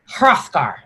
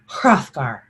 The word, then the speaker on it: Hrothgar: character you might find in beowulf you pronounce the h and the r so it sounds like ha rough gar hrothgar ha rothgar hrothgar so you pronounce every